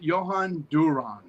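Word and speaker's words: Jhoan Duran: Duran. Duhan. Dan Johan. Johan Duran.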